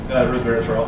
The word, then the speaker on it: resveratrol: So I'm glad you mentioned that about the resveratrol. Did I say it right? Resveratrol.